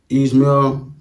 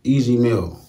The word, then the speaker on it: Ez Mil: I forgot to East Mill, but I think that's known, bro. And man, y'all came through. His name pronounced Easy Mill.